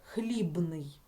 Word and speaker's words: хлібний: хлібний пишемо букву Б і це слово вимовляємо так хлібний щоб чітко було чути звук Б наступне слово ліжко як